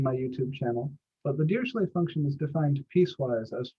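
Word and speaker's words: Dirichlet: and I pronounce it deay not DEET the Germans call him DEET the French call deay the deay function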